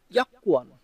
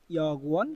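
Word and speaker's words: 여권: এখন আসেন ইয়াকুয়ান, এই উচ্চারণটা আপনার আমাদের এখানে আছে ইয়াগুয়ান, কিন্তু কোরিয়ানরা মূলত উচ্চারণ করে ইয়াকুয়ান, তাই আমাদেরকেও এটা উচ্চারণ করতে হবে ইয়াকুয়ান।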